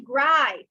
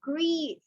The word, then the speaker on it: grief: Do not say gripe. It's grief, grief. Let's pronounce as many times as you can until you know that the sound is E.